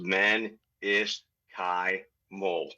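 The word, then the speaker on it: mesenchymal: Menoskymal stem cells, MSC's for short, and it's pronounced menisky mole.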